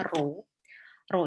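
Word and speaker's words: rho: data sample niatnya dari data sampel kemudian ini bacanya ro-ro itu melambangkan korelasi antara dua variabel yang didapat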